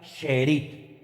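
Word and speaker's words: שארית: Miren, la palabra remanente en hebreo es una palabra que se pronuncia sherit. Vamos a ver. Esa es la palabra en hebreo. Esa palabra se pronuncia sheerit.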